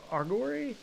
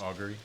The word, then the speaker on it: Augury: Actually, may I take a moment for 11 minutes to cast a ritual of uh Argory? I'm not sure how it's actually pronounced. Augury.